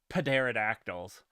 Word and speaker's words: pterodactyl: It's not like pterodactyls. I refuse to leave the P off.